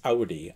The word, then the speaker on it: Audi: Sorry, I've got to pronounce it correctly. I got corrected on one of the last comments. Audi.